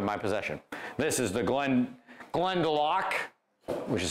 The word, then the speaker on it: Glendalough: This is the Glendalough which is how it's pronounced, by the way. And if you think it's Glendalough, which I always did, then it turns out we're wrong. It's Glendalough.